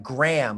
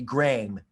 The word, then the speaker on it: Graeme: exactly right i mean i would have pronounced that gram like the name graham which it is but it's it's written in a british way so it's supposed to be grain and uh it was